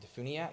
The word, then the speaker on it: DeFuniak: all go down to i always say it wrong is it defuniak uh-huh that's it springs went down to